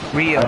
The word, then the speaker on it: Rio: in Brazil the Ricos I have a feeling I'm saying the name wrong those uh Rio that's what it's called not Rico why was it Rio